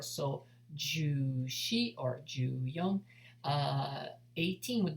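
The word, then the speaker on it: 四: Shi, shi. Or number 4 can also be pronounced as yon, yon.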